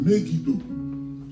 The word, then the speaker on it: Megiddo: La prononciation, c'est Megiddo.